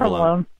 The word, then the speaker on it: provolone: How do you pronounce provolone? Provolone.